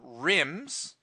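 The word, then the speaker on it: RIMM: Ram they came on rims which by the way are I mm does not stand for anything it just rhymes with the sims and dims ok so it's Rambis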